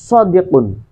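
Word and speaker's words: صديق: Kesulitan huruf sod juga merupakan konsonan emfatik, diucapkan lebih tebal dan lebih dalam dari pada bunyi S dalam bahasa Indonesia. Contohnya adalah penutur Indonesia cenderung mengucapkannya sebagai sodik dengan S yang tipis, bukan sodik tapi sodik gitu, yang tipis, bukan bunyi sod yang lebih dalam.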